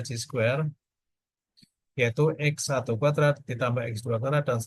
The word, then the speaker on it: chi-square: Maka variabel random ini bacanya G square, dibaca G square, yaitu X1 kuadrat ditambah